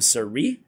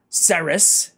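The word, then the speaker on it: Serris: It's not Saris, it's Sari, Madame Sari.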